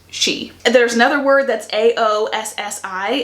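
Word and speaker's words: Sidhe: The she word, that's actually spelled S-I-D-H-E, but is pronounced she.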